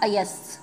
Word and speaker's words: अयस: दूसरा अयस, जब हमारी जीभ जो है दांतों के नीचे जाएगी तो उस शौ का जब हम उच्चारण करेंगे तो अयस होता है ये।